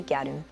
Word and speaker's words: gyaru: The word gadu itself, it comes from the English word girl. Um but you know Japanese pronunciation turns into gadu.